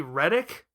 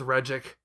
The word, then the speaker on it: Regik: So while a more obvious anglicized form of this might be Reddick, that moves a bit too far from the original pronunciation for my taste, so I stick with Regik.